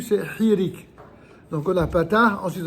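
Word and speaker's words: hiriq: de vous dire que le i ça s'appelle hirik hirik c'est apostrophe h i r i Q h i r i Q c'est hirik donc on a Patar ensuite on a Seol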